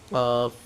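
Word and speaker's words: ق: মোটা হবেন খাইন খ চার নাম্বার মাখরাজ যে জিহব্বার গোড়াডা তার বরাবর উপরে তালুর সঙ্গে লাগাইয়া যে জিহ্বার গোড়াডা তার বরাবর উপরে তালুর সঙ্গে লাগাইয়া এটাও মোটা হবে কফ উচ্চারণটা দেখেন কফ কফ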